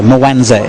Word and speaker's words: Mwanza: So tell me about the area, Mwanza. Have I pronounced it correctly? Mwanza, well done, mate.